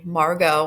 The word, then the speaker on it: Margot: that's Margo and then again that's how you pronounce her name Margo I know a lot of you're going to want to call her Margot but it's Margo so I'm asking you look